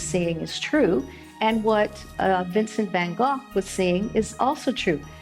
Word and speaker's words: Vincent van Gogh: On the other hand, if you take somebody like the famous artist Vincent van Gogh, which is actually Vincent van Gogh is the proper pronunciation.